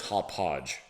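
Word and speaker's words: Hauppauge: like a hot pog hop podge i think was uh it's really hard to pronounce h-a-u-p-p-a-u-g-e i'm sure that's hot podge but it was a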